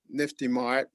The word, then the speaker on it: NFTiMart: I'm the co-founder of YesCoin, and I'm also co-founder of NFTiMart, which is the correct pronunciation of our company, with Dr.